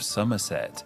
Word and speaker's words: Somerset: of devon we have somerset a place best known for its cider and the village of cheddar which yes the cheese is named after the name sounds like the season of summer for a good reason